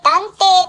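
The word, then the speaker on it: 南庭: この庭を南の庭と書いて断底と呼びます。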